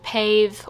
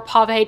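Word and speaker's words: pavé: piece but this has pave or pave diamonds depending on how you choose to pronounce it running all along the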